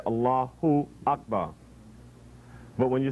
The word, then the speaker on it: Allah: a-l-a-h-a allah allah allah now we know in pronouncing in arabic where the name is allahu allahu but the vow who the dhamma on the end of allah is dropped when you stop the name there it's only continued when you say